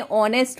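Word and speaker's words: honest: मतलब होता है ईमानदार देखिए नेस्ट नहीं होता ये ऑनेस्ट होता है इसमें जो एच होता है वो साइलेंट होता है इसलिए आप कैसे बोलेंगे आप पढ़ेंगे ऑनेस्ट बी ऑनेस्ट ईमानदार रहो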